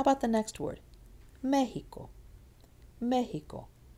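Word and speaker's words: México: Mexico. It's here on the me, and you'll notice 1, 2, 3 syllables from the back.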